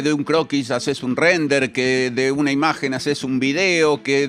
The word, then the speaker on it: Rendair: Bien, la página es esta, se llama Rendire, se debería pronunciar Render.